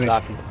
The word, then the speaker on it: Ntozake: I forget how to pronounce it. Ntozake.